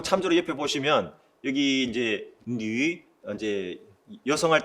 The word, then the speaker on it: 女: 이 뉘 발음이 특히 우리가 이제 한국어에서는 이 위 발음이 위를 발음하면서 입술이 열리게 됩니다. 저기 이제 참조 맨 아래에 보시면 한국어는 위장, 위치, 위기 할 때 입술이 다 열려버립니다. 위 하면 입술이 열리죠. 근데 중국어는 뉘시 열리지 않은 상태에서 발음이 끝나고 그 다음 발음으로 넘어갑니다.